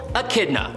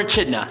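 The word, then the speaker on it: Echidna: show up for example AK kidna or achidna however you want to pronounce it AK kidna or a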